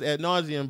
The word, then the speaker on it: ad nauseam: little bit uh i've been speaking about this ad nauseam but for me just personally the drinking just